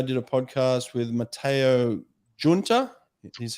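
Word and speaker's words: Giunta: then yesterday i did a podcast with matteo junta he's how you pronounce his name junta he is getting married to federica pellegrini in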